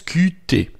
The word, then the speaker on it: Qt: n'est pas une faute qt en français se prononcent cutté moelle donc si je